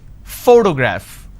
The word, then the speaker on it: photograph: graph now pay attention when I pronounce this particular word photograph the correct pronunciation is photograph which means I'm am stressing on this particular syllable which is the first syllable please give me the